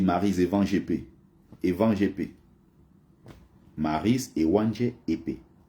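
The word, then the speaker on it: Maryse Ewanjé-Épée: Mais les Français prononcent ça, et elle-même, hein, dans l'émission, elle n'arrivait jamais à rappeler aux gens que c'est pas comme ça son nom. On dit Maryse Evan GP.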